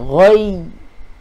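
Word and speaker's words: الغي: Jadi tekan betul-betul. Minal ghoi. Ha, ghoi. Okey. Mai saya tunjuk sikit. Ha, saya kongsikan dekat ayah-ayah ibu-ibu semua. InsyaAllah. Okey. Okey. Cara bacaan dia. Okey. Cara bacaan dia, bila kita matikan dengan ya yang bertanda sabdu tadi tu. Okey. Minal ghoi. Ha, dia macam nak tekan huruf ya mati tu.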